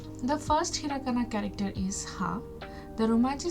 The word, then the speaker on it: は: You can ask me that this is also an ha. Then why are you pronouncing it as a wa? So in Japanese language this ha is sounds like w.